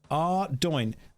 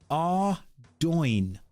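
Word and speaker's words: Ardougne: Ardoin. Ardoin. The way that I've been saying it the entire time. Ardoin.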